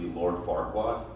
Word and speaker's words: Farquaad: He did butcher my name. The right way to say it is actually Lord Farquaad.